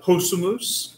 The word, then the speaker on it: possumus: Possumus, you notice there's an accent there at the beginning to tell us how to pronounce that. Possumus, we can.